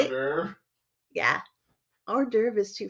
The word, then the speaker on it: hors d'oeuvre: Hors d'oeuvre. Yeah. Hors d'oeuvre is too fancy for me and my New Hampshire roots, babe. It was hors d'oeuvres for me for the longest time.